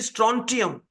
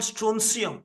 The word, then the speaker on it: strontium: rubidium strontium rubidium strontium the pronunciation has to be strontium we often call stonum no no you just Google search the native speakers the have made the pronunciation as strony strontium rubidium strontium then comes